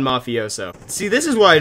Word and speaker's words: mafioso: on the mafioso there's a couple different ways that you could pronounce this gun I've settled on mafioso see this is why